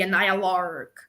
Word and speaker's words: Annihilarg: That's how it's said, the Annihilarg.